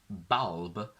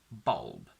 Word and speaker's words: bulb: The dark L interferes so much that it turns it into a sort of o. So I don't say bulb, I say bulb.